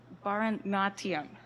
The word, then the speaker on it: Bharatanatyam: Bharatanatyam.